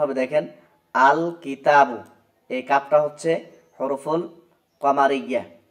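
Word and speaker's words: الكتابُ: তাহলে উচ্চারণ হবে দেখেন আল কিতাবু। এই কাফটা হচ্ছে হরফুল কমারিয়া। অর্থাৎ এইযে কাফ। এইজন্য এখানে লামটা উচ্চারিত হচ্ছে।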